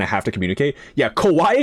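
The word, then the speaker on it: こわい: Kauawaii and Kawaii very different things. Kauawaii is scary. Kauawaii is cute. Got to be careful with your pronunciation.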